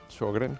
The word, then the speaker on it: Sjögren: ¿Y cómo lo pronuncian los suecos? Sjögren, como Sjögren. CH, sí. Generalmente como si fuera una CH, síndrome de Sjögren.